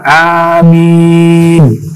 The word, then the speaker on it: amin: Amin, bacanya panjang. Amin.